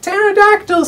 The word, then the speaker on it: pterodactyl: And I was like, pterodactyl, see, the P is silent.